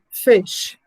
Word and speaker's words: fish: here uh like the first one fish so the sound the sound of i is not long fish the second we have